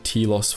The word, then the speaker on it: Telos: Kreia knew of this, and so, through one of Nihilus’ servants, she led him to believe there was a Jedi Academy on Telos IV , knowing that Nihilus would be unable to resist such a target.